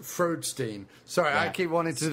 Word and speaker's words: Freudstein: It's actually pronounced Freudstein.